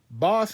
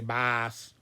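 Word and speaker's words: baas: Now, boss in Dutch is spelled B-A-A-S. So it's like, in English, there's a temptation to want to say boss, but it's pronounced boss. B-A-A-S is boss in Dutch.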